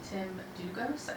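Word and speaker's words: Tim Dlugos: with this poet named Tim Dugos. I just learned I've been saying his name wrong for 20 years, like last week. The L is silent.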